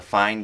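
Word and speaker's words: Fein: the orange German company that's spelled F-E-I-N. They look like really nice drills, and if you're looking for like a good carpentry or even metalworking drill, I would definitely say check out the fine drills, because they have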